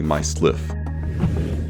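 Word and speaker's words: MYSLF: notes that make up myself or if you want to say it phonetically my sliff Eve solaras my self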